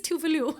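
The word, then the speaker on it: Tove Lo: So like, it's really funny how people pronounce these Swedish artists. I'm like, I was correct. Actually, it's Tuvalu.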